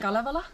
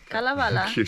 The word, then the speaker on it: Kalevala: Kalevala. Kalevala.